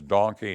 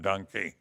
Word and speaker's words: donkey: my hand and say the proper pronunciation is donkey not dunky and i got in